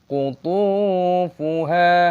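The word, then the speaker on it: قُطُوفُهَا: Kutu, memanjangkan th, ada sukun wawu, mad thabi'i, qutufuha.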